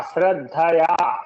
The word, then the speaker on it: श्रद्धया: हाँ, श्रद्धया, श्रद्धया, ठीक है, श्रद्धया ऐसे बोलना पड़ेगा।